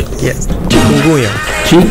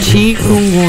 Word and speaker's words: Chikungunya: Vamos começar com a pronunciação. Show. Wala Clayton, wala Clayton. So meeting ya, awal sahi, mamina. Awo sim, calma. Chikungunya. Chikungunya.